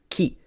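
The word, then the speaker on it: 着: is what's confusing people it's key that means this and then something happens which has a specific nomenclature in linguistics I'll discuss it that turns the K into a g but the original word on its own is key let's see if he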